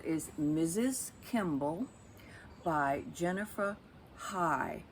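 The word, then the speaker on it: Haigh: Mrs Kimball by Jennifer High I guess that's how you pronounce it I looked it up to see might be hey h-a-i-g-h this is her very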